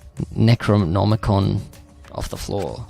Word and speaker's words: Necronomicon: Necronomicon. Necronomicon off the floor.